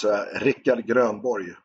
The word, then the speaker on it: Rikard Grönborg: You got to roll those R's, Rikard Grönborg.